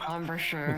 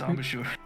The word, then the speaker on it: embouchure: I don't even think it's pronounced that way. Out of character. It's called I know. embouchure. Yeah, it's embouchure.